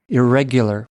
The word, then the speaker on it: irregular: पे स्ट्रेस चला जाएगा, स्ट्रेस रेग पे रहेगा और वो यू तो उसी तरह ही बोलना है जैसे ऊपर बताया, इरेगुलर। 4 सिलेबल्स हैं, 2 जो है सेकंड के ऊपर स्ट्रेस है, और आज से आप